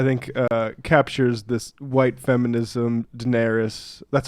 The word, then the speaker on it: Daenerys: mashup that I think captures this white feminism Daenerys that's how you pronounce the name right Daenerys yeah I'll have